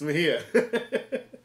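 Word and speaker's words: Mejía: But Puerto Rican, so it's Mejia.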